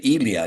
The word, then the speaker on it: Elia: today you're welcome and it's actually Elia not Elia but that's close enough